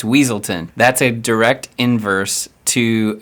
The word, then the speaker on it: Weaselton: he corrects the pronunciation cuz they call him Duke wesselton he says no it's weaselton that's a direct inverse